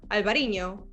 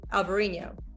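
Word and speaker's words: Alvarinho: different spelling so still alvarino i think the spanish they just say albarino and the portuguese who just say alvarino so yeah but it's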